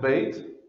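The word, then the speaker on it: ב: here with the open door and so it's pronounced bait but then that's the last letter of that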